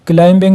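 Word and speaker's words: climbing: रखना है इसी तरह क्लाइंबिंग में आप बी को देख ले तो बी हमने साइलेंट रखना है राइट में जी एच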